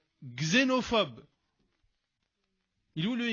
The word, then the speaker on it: xénophobe: Le X, je le prononce Z. Xénophobe.